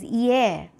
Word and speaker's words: hier: And this word over here is going to be pronounced as horloge. This one is hier.